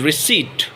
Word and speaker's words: receipt: Then if we see this word, we have to make the P silent. We should not use P. So you can say it is receipt, not receipt.